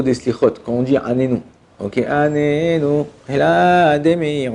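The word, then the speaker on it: עננו: Juste des petits points au niveau des slichot, quand on dit Anenu, ok, Anenu, et là, Ademir, ouais. Il faut faire attention de mettre un accent tonique sur le premier Nun.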